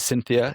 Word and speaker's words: Syntheia: Um is it and how do you pronounce it? Is it Cynthia? Is it Exactly like that.